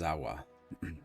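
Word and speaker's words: Zahua: not an owner Z Za is a free man well as free as any of us been pronouncing it wrong it's zawa zawa I still don't understand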